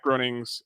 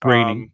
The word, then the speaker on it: Groening: Yeah, Matt Groening's Groening, but yes. Oh, is it pronounced Groening?